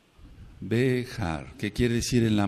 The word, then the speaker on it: Behar: allá dejar dejar dejar se escribe con b grande por así decirlo en la fonética la letra la letra j la letra y la letra r dejar béjar qué quiere decir en